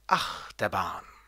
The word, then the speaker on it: Achterbahn: Und der Dreisilber wird auf die erste Silbe betont, das heißt Achterbahn.